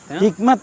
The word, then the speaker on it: hikmat: Hikmat ini saya kira adalah pengucapan gaya Persia, ya, hikmat. Bahasa Arabnya adalah hikmah.